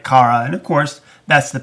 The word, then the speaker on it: Kara: the whole season, she calling her Kira, which of course isn't her name. And somebody even said something in the season about how she's the only one that mispronounces her name. But at the very end of the season, when she promotes her, she finally says her name right, Kara.